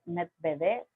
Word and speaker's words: Medvedev: títere, se lo puede llamar así, que es Medvedev. Sí, se pronuncia así, ok, bueno.